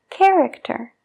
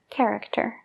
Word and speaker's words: character: parecido al español caráter character entonces la ch automáticamente se pronuncia como una K character como dije antes la